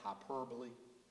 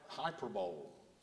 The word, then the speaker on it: hyperbole: Hyperbole? Sometimes people mispronounce it like I did wideness as wilderness, as hyperbole. But it's hyperbole.